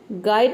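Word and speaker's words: guide: ए आर डी गार्ड गाइड में भी देख सकते हैं कि यू साइलेंट हो गया तो ये हो जाएगा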